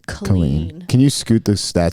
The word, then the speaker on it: Colleen: more amazing is that her name is spelled Colleen and she pronounces it clean can you scoot this